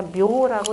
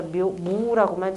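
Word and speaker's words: 畝: 한반도에 들어와 동음은 바로 다 묘라고 이렇게 발음을 합니다. 그런데 이것도 역시 공부라는 것이 이미 전통하고 단절돼 있어가지고 어디를 사전을 찾아보면 전부 다 무라고만 찾아야 돼요.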